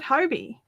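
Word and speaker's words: Hobbii: who live 25 minutes from the company call it Hobie. So I'm pretty chuffed about that. I don't know where I heard Hobie. I'm sure I heard it. I'm sure I heard someone say it. And I'm glad I've been doing it right.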